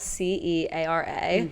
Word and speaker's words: Ceara: Yeah, so it's Irish. So it's spelled C-E-A-R-A, which looks like, obviously, but it's Ceara.